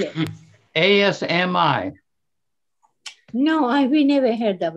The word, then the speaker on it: Asmi: How do you spell it? A-S-M-I.